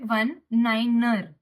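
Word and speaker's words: niner: तो रनवे डेजिग्नेटर में यहाँ लिखा है 19, तो हम इसे पढ़ेंगे रनवे 19er।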